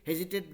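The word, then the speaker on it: hesitate: हाँ, तो हेजिटेट मतलब आराम से, उसमें भी हेजिटेट जल्दी नहीं बोलेंगे, हेजिटेट मतलब दो छोटा छोटा वर्ड मिल के बनाए, ऐसा सोच सकते हैं, हेजिटेट, हेजी और टेट, ठीक है।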